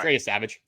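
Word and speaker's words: Yesavage: Because Trey Savage, I'm saying his name wrong. Yeah, All right. Trey Savage.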